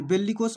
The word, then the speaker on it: bellicose: इसमें देखिए इसका प्रोनाउंसिएशन में छुपा है, बिल्लिकोस छुपा है।